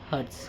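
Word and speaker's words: Hertz: SI unit होता है हर्ट्ज क्या होता है हर्ट्ज क्या होता है इंग्लिश में क्या होता है हर्ट्ज स्पेलिंग रॉन्ग है एच ई आर टी जेड ठीक हर्ट्स है।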